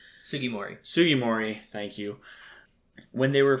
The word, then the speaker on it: Sugimori: tajiri and i can never remember how to pronounce his name sugimori sugimori thank you when they were first creating it